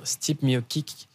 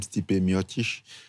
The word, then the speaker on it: Stipe Miocic: En fait, la façon dont il prononce ça, c'est pas la façon dont on écrit. C'est Stipe Miocic, mais si tu veux lire ce qu'on a écrit, ça donne pas Stipe Miocic.